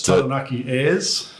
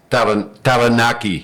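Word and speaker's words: Taranaki: Yeah, we want to know currently with the name its Tanaki. So roll your Rs. Tanaki.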